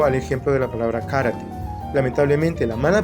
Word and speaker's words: karate: cala en el idioma la palabra que generalmente decimos karate para referirnos al arte Marcial japonés está mal pronunciada la palabra original es karate porque en la fonética japonesa no existe esa construcción de karate un japonés diría karate y por lo tanto